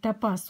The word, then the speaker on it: топаз: Или правильнее говорить топаз. Ударение надо ставить на последнюю букву.